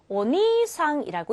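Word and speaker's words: お兄さん: 오빠의 경우에는 아니가 아니라 오라는 표현으로 바꿔서 오니상이라고 읽어 주셔야 돼요 앞에 있는 오도 주의하셔야 겠지만 뒤쪽에이를 붙여서 장음 처리한다는 것도 기억해 두셔야 합니다 오니상 니상이 아니라 오니상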